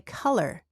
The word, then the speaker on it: color: There's a short a sound as in cup when you say color and collar is an a sound. The same sound as in the word father.